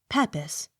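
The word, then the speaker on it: Pepys: accent on last syllable p e p y s peppas accent on first syllable p i e r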